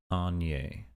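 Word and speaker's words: Aigner: Etienne Agnier.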